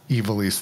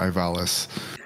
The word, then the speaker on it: Ivalice: 12 that it was like, no, it was supposed to have been pronounced Ivalice the whole time, because Anthony had to correct me multiple times while I was calling it Ivalis.